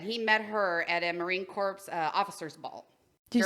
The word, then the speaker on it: Marine Corps: is the S there the S is silent and the P yeah it's Marine Corp